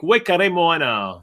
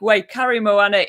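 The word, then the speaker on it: Waikaremoana: hike um okay next number seven is lake wakare moana yes um this is uh first of all quite a hard lake to pronounce but yeah lake way curry moana is in the north island um and it's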